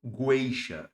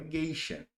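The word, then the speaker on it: gueixa: pelo seguinte, na palavra geixa, o som do uciado. Eu não falo guiisha, eu falo é geixa.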